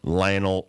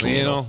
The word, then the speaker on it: Lionel: cook Damian Lillard or Lionel Messi oh gosh Nick pronounced Leonel I think it's Lionel Lionel I call him Lionel